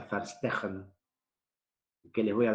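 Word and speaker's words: Verstehen: 2 en este caso la ve corta se pronuncia como f la h como j faster esa es la palabra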